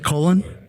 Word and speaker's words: Cullen: It's Colen.